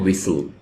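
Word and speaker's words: whistle: को इंग्लिश बोलते हैं विसल विसल यहां पे टी साइलेंट है विल सरगोशी करना सरगोशी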